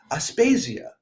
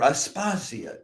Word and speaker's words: Aspasia: with the king's fiancée, Aspasia, or Aspasia, depending on whether you're doing an English or a Latinate pronunciation of that.